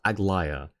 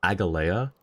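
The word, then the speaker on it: Aglaea: Yeah, in Star Rail it's pronounced Agllaya, but someone had mispronounced it Agala and I spelled it Agala the way that they pronounced it.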